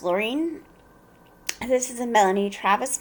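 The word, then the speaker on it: Laurien: lorien baron laurene berenson i keep wanting to say lorien but i believe it's pronounced laureen this is a melanie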